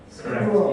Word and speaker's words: ScheDool: How do you pronounce it? ScheDool? ScheDool.